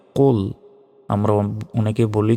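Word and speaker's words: قُلْ: লাম পেশ কুল কুল মোটা করে উচ্চারণ হবে কুল আমরা অনেকে বলি যে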